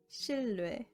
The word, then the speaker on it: 신뢰: When niên and lir are back to back, niên is pronounced as lir.